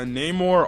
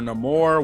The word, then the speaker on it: Namor: um I thought uh Namor or no more wherever it's the same pronunciation you can call it either or yeah um the actor